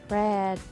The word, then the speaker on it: read: Dan kata read di sini dibacanya bukan read, melainkan read, karena merupakan bagian dari irregular verb.